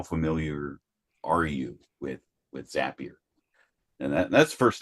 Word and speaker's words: Zapier: stage of how familiar are you with with zappier and that that's the first thing is is how do you pronounce the word uh zapier I always heard zappier makes you happier zapier makes you crazier right